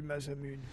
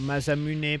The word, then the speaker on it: Masamune: Oh, on a eu Masamune. Ou Masamune plutôt, si on prononce bien.